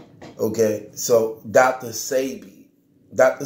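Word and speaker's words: Sebi: s e bi but the S II and pronounced say okay so doctor say be doctor say be who's a herbal hillier the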